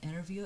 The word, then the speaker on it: interview: You know what an interview is? So first of all, it's spelled as interview. Interview. But we normally don't stress the T after an N. So we say interview. It sounds as interview.